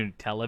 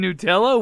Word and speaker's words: Nutella: Are you saying that's better than Nutella? What? Did you just say Nutella? Nutella. Yeah. Did you say Nutella? That's how they pronounce it over there.